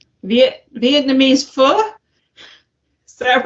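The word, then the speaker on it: phở: Pho? Vietnamese pho? Is that right? It's one of it's you're supposed to pronounce it like F-U-H, like pho.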